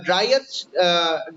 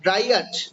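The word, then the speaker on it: Dryad: That দো light wind ড্রাইট অফ the trees, তুমি তো এখানে এখানে ড্রাইট, ড্রাইয়াট, ড্রাইয়াট, ড্রাইয়েট, এটা উচ্চারণ ড্রাইয়েট হবে, ড্রাইয়েট, এইটা লেখো, এটা মানে বোঝায় বনপরি, ড্রাইয়েট মানে বনপরি, ঠিক আছে।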